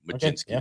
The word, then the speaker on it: Majinsky: So, think of think of the gin. Okay. Because you like to drink gin. Mini at the end. Majinsky is how you say it.